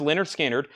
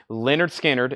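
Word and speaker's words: Lynyrd Skynyrd: for Leonard Skinner's debut album here this is pronounced Leonard skinnard $ 36.99 Leonard skinnard it is uh their debut album and I'm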